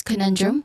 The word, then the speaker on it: conundrum: Pronunciation wise, conundrum, you start with ko, which has a schwa sound, nun, which also has a quick and stressed vowel sound in the beginning. And this syllable is the stressed syllable for this word. And then we end with drum, which also has a schwa sound. It begins with a consonant blend of the two consonants D and R.